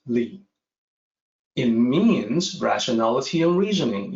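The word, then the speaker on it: 理: there's a character for that this character is pronounced Li it means rationality and reasoning it means the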